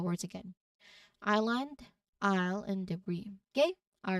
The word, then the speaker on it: debris: This word comes from French, which explains the silent S at the end. It's pronounced as debris. So the S is not, sounded at all.